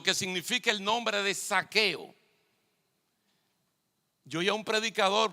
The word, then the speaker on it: Zaqueo: Recuerden que esto es con Z y uno tiene problemas para pronunciar la Z. Mejor decimos saqueo, pero sería Zaqueo. Significa puro e inocente.